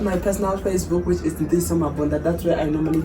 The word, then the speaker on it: Ntiyiso: with that end, not yes, Ntiyiso. with an Ntiyiso it's Mabunda. yes. A lot of people, they always struggle to pronounce the name.